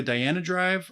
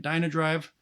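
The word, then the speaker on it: Dhyana Drive: that's going into a Diana Drive I know the last video I kept pronouncing it Dino Drive I apologize if that bothered you um so the Diana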